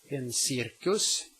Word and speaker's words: cirkus: The C may also be pronounced like an S when it is located in front of a soft vowel. En cirkus.